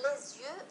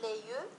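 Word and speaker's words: les yeux: إذا ليزيو نقول لا نقول ليو وإنما نقول ليزيو، يعني هنا نقوم بلا ليزون.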